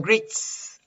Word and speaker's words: greets: And greets. Ahí sí está la S clarita, suelta. No hay zumbido. Greets. Porque la T no emite vibración.